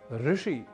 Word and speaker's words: ऋषि: में नहीं अर्थात ऋण ऋषि कृषि कृष्ण संस्कृत उपकृत कृत्य गृहीत जैसे कई शब्द हैं जिनका उच्चारण हमें रण या रुण ऋषि या ऋषि कृषि या कृषि इत्यादि के रूप में नहीं करना तो ऐसे ही उच्चारण